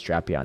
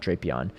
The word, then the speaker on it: Drapion: Unfortunately, the pronunciation is Drapion, not Drapion.